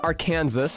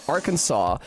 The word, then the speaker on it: Arkansas: I think that Arkansas is probably pronounced like that because of the French, though. Like, if I had to guess, Arkansas pronunciation Y. Um, in 1881, a heated disagreement between the state's two senators, one who said are Kansas and the other who said Arkansas, led to a ruling by the state legislature making the Arkansas pronunciation official.